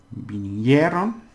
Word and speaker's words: vinieron: So, mis padres vinieron. Now, hier is what we pronounce, and it's a diphthong.